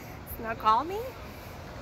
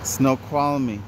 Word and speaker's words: Snoqualmie: I can't even pronounce it. School. Snoqualmie? No. Try again. But anyhow, this is like their little train thing. And we're going to walk down. Snoqualmie.